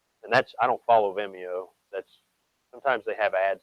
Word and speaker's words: Vimeo: that's I don't follow Vimeo. That's sometimes they have ads that they'll throw in there. Vimeo, you don't pronounce the E right.